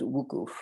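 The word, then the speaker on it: wuquf: Mount Arafat for a day of prayer called wukuf, which is spelled W-U-Q-U-F.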